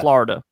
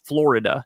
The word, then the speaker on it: Florida: So like when I say the word Florida, I say Florida. And she's like, "It's Florida, not Florida."